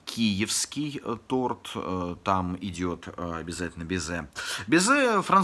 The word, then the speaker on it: безе: торт, там идет обязательно безе. Безе – французское слово, поэтому ударение, как всегда во Франции, все на последний слог. Безе вот с таким прононсом, таким вот, безе… В переводе с французского это вроде как целовать.